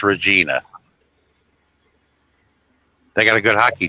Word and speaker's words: Regina: No, I said I have a friend that lives in Vagina. never heard of it. Regina. It's a small town. Well, yeah. Well, I've heard it pronounced Regina.